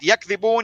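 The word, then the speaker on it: يَكْذِبُونَ: the way to pronounce it is different, right? Yakdibun, yukadhibun.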